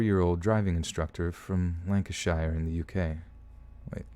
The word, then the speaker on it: Lancashire: I'm a 54 year old driving instructor from Lancashire in the UK wait Lanka's shire oh bla pronouncing anything is just like the most painful